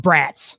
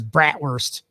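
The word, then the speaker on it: brats: know it's I mean it's spelled Bratz okay you know like but no one says brator I thought they did brator okay you so I'm learning some Northern culture it's brat so and then uh you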